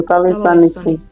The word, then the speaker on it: taloissanikin: Oh, taloissanikin. Taloissanikin. Taloissanikin. Oh. And a few additional features of Finnish. Number one, the main stress always goes on the first syllable of the word.